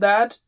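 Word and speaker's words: ث: So if this is teeth and this is the tongue, you touch the tip and blow with a light sound like tha.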